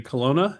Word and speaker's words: Colonna: And my guest today is Jerry Colonna.